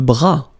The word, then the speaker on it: bras: Le bras, le bras, same thing here, final S not pronounced, le bras.